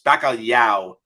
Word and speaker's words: bacalhau: But it is impossible for American or English speakers to pronounce properly. It's bacalhau.